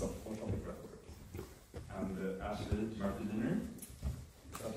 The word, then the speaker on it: Beiner: And Ashleigh-Murphy Beiner, is that how you pronounce it? Yeah, Beiner is a psychologist based in London, specialized in the treatment of complex trauma.